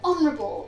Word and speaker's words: honourable: For example, honorable or honest.